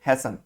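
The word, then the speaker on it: hasten: किसी चीज को समय से पहले करवाना या जल्दी करना, इसको हम बोलते हैं हैसन। टी साइलेंट है, ध्यान रखना।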